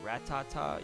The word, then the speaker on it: Rattata: that 'll be fun it's definitely Rattata I agree I agree it must be Rattata but there's I feel like there's other ways you could pronounce it like retainer rat Tata you know ratata you could say that sounds terrible you could pronounce it that way if you wanted to Rattata I guess it's the same as Rattata it's just a slightly different pronunciation we're kind of about